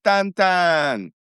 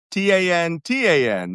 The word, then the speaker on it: Tan-Tan: hit a town called Tan-Tan. Not the cartoon Belgian. T A N T A N, not Tin Tin, T I N T I N. Tan-Tan. Even though they're both pronounced the same.